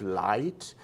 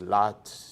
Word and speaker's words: light: things like dip thongs when you pronounce the word light the I got light when you sing you tend to thinking in your mind that you're pronouncing light but what we hear as adjudicators is lot so um things like